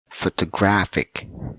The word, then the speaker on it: photographic: uh sorry in here we put the stress word on the third syllable the sukuka this so look at this one it will be photographic photographic okay so you